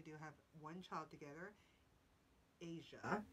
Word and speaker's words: Eja: Asia is how it's pronounced, but it's spelled EJA.